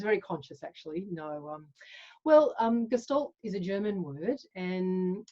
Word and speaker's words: Gestalt: Is that how I've pronounced it properly? Gestalt? Yes, you have. Gestalt.